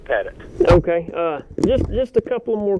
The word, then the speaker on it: Pettit: Do you pronounce your last name? Is it Pettit? It's Pettit.